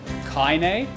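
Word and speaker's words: Kainé: giving me these the second time you pronounce it kaine kaine kaine kaine see i don't memorize people's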